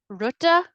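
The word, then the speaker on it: rote: The word you might see a lot of is ruta, which is spelled R-O-T-E, and it's generally like a smattering of farms.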